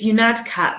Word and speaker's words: Unadkat: So it's um it's catat. So think think you mad cat run from there. That's the easiest way easiest way to pronounce it.